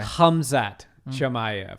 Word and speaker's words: Khamzat Chimaev: I pronounced the K. It's a soft K. Okay. Khamzat Chimaev.